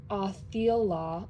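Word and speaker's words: Othala: Othelia, pronounced Othela, okay, period, thank you.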